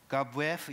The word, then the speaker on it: Gabuev: Alexander Gabuev, is that the right way to pronounce it?